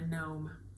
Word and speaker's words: gnome: I've cast on a gnome NTI with a silent G NY gnome by Sarah